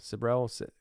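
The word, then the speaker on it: Sibrel: get it though uh cybrol sabrell sabrell s-i-b-r-e-l bart um and uh you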